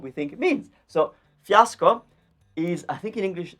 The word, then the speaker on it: fiasco: Fiasco. So I'll pronounce it with my accent. You can say it in English, but fiasco.